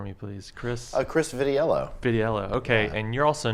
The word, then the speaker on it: Vitiello: And could you pronounce both your names for me, please? Chris? Chris Vitiello. Vitiello.